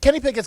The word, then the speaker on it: Pickett: I think Kenny Pickett is a fraud, and I think he'll be out faster than Josh Rosen.